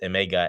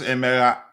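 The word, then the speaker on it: Emegha: another striker, and that's Emega, and he will be coming at the end of the year. If you don't mind, it's pronounced Emera. Emega. No, it's Emega? Emera.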